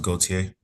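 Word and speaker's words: Gauthier: Last name is going to be spelled G A U T H I E R pronounced Goautier. Goier.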